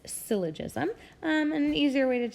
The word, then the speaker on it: syllogism: law of syllogism so this word here is pronounced syllogism not syllogism or I'm it's hard I know it looks kind of hard to say but it's syllogism and the easier way to say it is